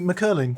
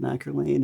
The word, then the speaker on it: McErlain: I've been calling you McErlain. And you know, Yes. I never correct anyone because it should be pronounced that way. Right. Okay. But I don't know why the family calls it McErlain and parents are from here, don't understand it, you know.